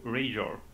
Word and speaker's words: Rhaegor: It was neither, yeah, because the root of the word is rage. So Rhaegor.